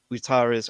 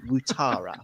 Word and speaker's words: Ouattara: It should be Dongo, but it's Ouattara, which is say water in a weird way and then add the A on the end.